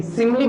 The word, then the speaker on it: simile: देखिए इसे स्माइल नहीं पढ़ देना सब लोग, ठीक है, स्पेलिंग पे ध्यान दोगे, SIMILE, सिमिली बोलते हैं इसे।